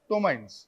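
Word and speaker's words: ptomaines: Carbon dioxide and something called as tomines. P is silent, তো tomines.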